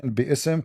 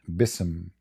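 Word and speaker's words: بِاسْمِ: All, it's saying bi'ism correctly. You see it? Right. فَسَبِّحْ بِإِسْمِ رَبِّكَ. So what they do, because the pronunciation will make it so hard to sing it when they recite Al-Fatiha, so they took the letter Alif from it and they make it Bism, which is and false.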